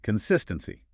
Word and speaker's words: consistency: Consistency. The stress here is on the second syllable. Consistency. Feel that emphasis land right on sis.